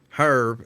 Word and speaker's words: herb: It's herb. It's herb. The H is silent, mister.